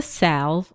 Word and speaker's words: salve: One is a salve.